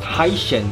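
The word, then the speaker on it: 海参: And also sea cucumber is pronounced hai shen in Chinese, which sounds like sheng. And that's the Chinese word for give birth.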